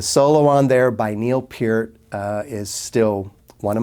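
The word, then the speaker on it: Peart: right about this um I said per for many years until I discovered otherwise so anyways Neo Pier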